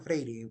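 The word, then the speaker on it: Freire: pedagogo que se llama Paulo fre lo pronuncian freir en portugués eh es que es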